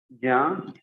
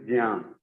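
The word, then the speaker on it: ज्ञान: it is not Gyan, it is Jyan.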